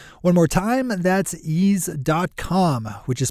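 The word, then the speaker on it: Eaze: in your town one more time and that's YZ dot-com which is spelled e a-z e YZ calm good morning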